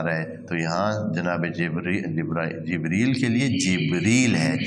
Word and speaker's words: جبریل: برابر کیا جاتا ہے، لیکن قرآن میں اس کے تلفظ مختلف ہیں۔ یہاں جبرائیل نہیں ہے، ہاں جیسے ہمارے ہاں